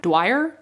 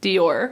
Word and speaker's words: Dior: What's that fashion word? Dwyer? No. Oh my god, how do you pronounce that word? Dior.